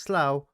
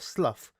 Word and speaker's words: Slough: It is spelled Slough, and it's pronounced Slough, not Slough, as many people have said it when they first read it.